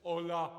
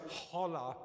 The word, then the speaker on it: hola: changed the fact that you still don't pronounce the age just hola kindness we've been doing this for a year and every time it's holla kindness fun it's no fun